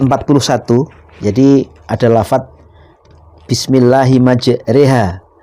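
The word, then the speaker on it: مَجْرٜىٰهَا: Jadi ada lafaz bismillahi majriha. Mestinya maj ro kan ketika kaidah pada umumnya tajwid. Kalau di fathah rnya ro. Tapi di sini wajib imalah dibaca e.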